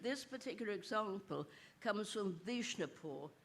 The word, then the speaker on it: Vishnupur: This particular example comes from Vishnupur, which I'm told is often pronounced Bishnupur.